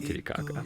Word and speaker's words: Titicaca: Titicaca. Really hard to say. Correctly, yeah. Yeah, it's just Titicaca, but if you want to say it like the indigenous people, it's hard to say.